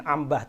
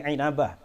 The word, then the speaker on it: Inabah: inabah inabah inabah bahasanya Bacanya jangan Ambah tapi inabah wafat 828 Hijriah dalam